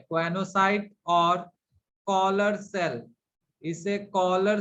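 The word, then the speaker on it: choanocyte: These cells are called as quanocyte, CHOANO, mistake मत कीजिएगा spelling में, क्वानोसाइट, और कॉलर सेल, इसे कॉलर सेल के नाम से भी जाना जाता है, ठीक है।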